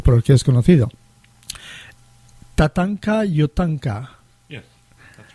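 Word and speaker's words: Tatanka Iyotake: Tatanka Yotanka. Yes, that's right. Did I pronounce it right?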